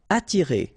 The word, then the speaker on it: attirer: Attirer, okay? Don't pronounce the double T. You only pronounce this.